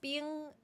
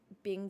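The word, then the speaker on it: 冰: is funny is because Bing in Mandarin means um ice cream and it's pronounced being which is not Bing Ching it means ice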